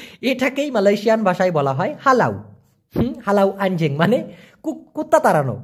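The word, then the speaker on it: halau: কষ্ট হওয়ার কথা না আমরা তো পোলাও খাই খাই না সেই পো এর জায়গায় হা লাগায় দিবেন পোলাও না বলে বলবেন হালাও মানে হচ্ছে তাড়িয়ে দেওয়া যেমন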